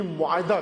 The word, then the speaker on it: معاہدہ: کے ساتھ, احدو یعنی معاہدہ کرنا, معاہدہ تلفظ اس کا ہوتا ہے, معاہدہ ہم کہتے ہیں عموماً, معاہدہ. میم عین الف ہے دال ہے گول, معاہدہ.